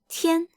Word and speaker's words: 天: What do you think the character on the right, which is pronounced 天, means? What does it mean? Yup, it means sky. Well, also day. This is 天.